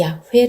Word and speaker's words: 야훼: 20 근교의 는 여호와 하나님이 이름을 항상 이 야훼 라는 이름으로 이렇게 사용하고 있는데 어쨌거나 여호와 하느님과